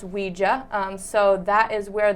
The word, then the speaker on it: Ouija: a is the german word ja and it's pronounced ouija um so that is where the name came